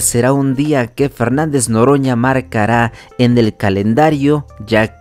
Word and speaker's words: Noroña: querido presidente López Obrador sabe muy bien el nombre de nuestro diputado Fernández Noroña Noroña pero le dice loroña de cariño él nunca sería mal